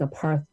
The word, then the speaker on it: apartheid: it should be a part that the correct pronunciation was a part a part of hate um and that and that the root of hate in apartheid um so uh food apartheid is intentional it